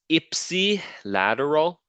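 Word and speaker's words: ipsilateral: the PowerPoint okay uh and uh it is Ipsy lateral that's how you pronounce it Ipsy and Contra lateral Ipsy lateral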